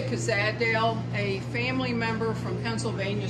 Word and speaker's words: Cozaddale: How do you pronounce it, Ruth? I say Cozaddale.